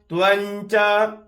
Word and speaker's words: त्वंच: विष्णु ना धता त्वंच त्वंच त्वंच यहां पे क्या बोलना है त्वम नहीं बोलना है त न बोलना जैसे च, छ, ज, झ, य जो च वर्ग का पांचवा वर्ण है उसका यहां पे उच्चारण करेंगे।